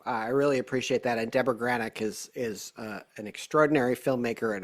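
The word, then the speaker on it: Debra Granik: And I actually got an opportunity, Kevin, to see you talk with director Deborah Granick. Did I pronounce her name correctly?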